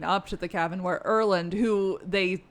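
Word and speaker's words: Erlend: Okay, Vergard and Inland. Erland.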